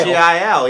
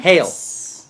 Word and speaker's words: Heil: the other company that Bobby Lee uses called Heil. It reminds me of Heil Hitler. I don't want to, every time I look at the fucking That's microphone, it says Heil. H-E-I-L. Yeah. H-E-I-L? Mhm. Hail.